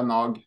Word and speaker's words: Nag: did I pronounce it is it nog or nag uh nog nog okay cool um so I'd